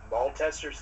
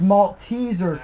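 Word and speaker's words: Maltesers: you filled up everything probably I'm going to mispronounce it I never heard of it uh M testers candy you know what I'm going to give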